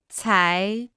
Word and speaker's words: 才: 才才才才才才才 Se pronuncia con el segundo tono.